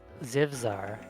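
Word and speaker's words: Xivzar: And apparently, it is Zivzar. The X is pronounced as a Z. Yeah, Zivzar.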